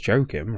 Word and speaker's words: Joakim: It is Joakim, right? Joakim. It's like the name Joachim, but you know what I mean?